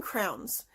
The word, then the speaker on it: crayon: The next book that I'm looking forward to is the Crayon Man by, I forgot that fast, Natascha Biebow. I think it's Crayon. I always pronounce them crowns, but you know, the things you color with.